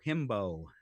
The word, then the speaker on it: himbo: it's not a him that's not a himbo himbo it rhymes with the word that it's like like that is a male bimbo huh a man who